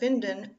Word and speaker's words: Winden: While not etymologically related to it, the German pronunciation of Winden also turns the verb into a homophone of the English noun wind.